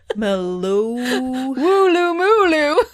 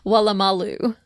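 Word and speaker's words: Woolloomooloo: o m o o l o o what Malu wulu mulu but that's not how it's pronounced it's wam Malu eight O's in this name you imagine for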